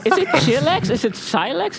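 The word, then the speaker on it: Chylex: Is it Silex? Is it Chilex? C-H-Y-L-E-X. How do you pronounce that? I would say Chilex, I guess.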